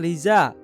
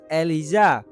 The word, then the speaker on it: Eliza: Namun ia langsung membenarkannya dan berkata bahwa bukan Liza melainkan Eliza," ucapan Jihad sambil menekankan pelafalan dengan jelas.